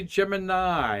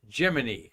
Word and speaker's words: Gemini: in space program Jiminy is Jiminy as in Jiminy Cricket now you all want